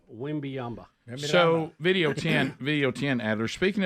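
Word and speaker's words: Wembanyama: Wembayama. Wembyamba.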